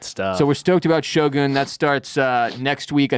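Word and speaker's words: Shōgun: Next up, we'll be covering Shogun. That's how it's pronounced. Shogun? I say Shogun. Shogun? But that's wrong. That's just white people.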